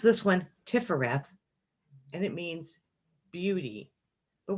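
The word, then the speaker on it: Tiphareth: the strength card to the heart then you pronounce this one tiffareth and it means beauty but we can think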